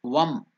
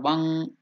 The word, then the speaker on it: Vam: Now here it is Vam, V-A-M. Can you pronounce this mantra? Vam, V-A-M. Vam or Vang, that can be that mantra.